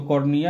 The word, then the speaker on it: cornua: को कहते हैं कॉर्निया, इसको कॉर्निया ही बोलेंगे। कॉर्निया तो एक और आँख में पाया जाता है, वो उसका नहीं, उसका स्पेलिंग EA होता है, इसमें होता है CORNUA।